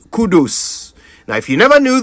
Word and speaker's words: Kudus: more kudus it's Kudos even the footballers name too Kudos oh but his is kudus kud please let's you